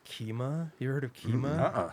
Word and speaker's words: Kyma: He had a little like electronic music lab with some cool synths, and there was something called Kima.